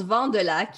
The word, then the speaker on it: Vandelac: Et Vandelac, ça se prononce tout de même ton nom? Ça se prononce Vandelac.